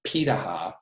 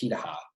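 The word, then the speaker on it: Pirahã: There's another group in Africa called it's pronounced Pitaha, even though it looks like Piraha, it's actually pronounced Pitaha.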